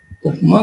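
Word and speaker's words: UPGMA: जी silent होता है इसमें, उपमा cluster, and based on that you can prepare a dendrogram that is called as the dendrogram tree.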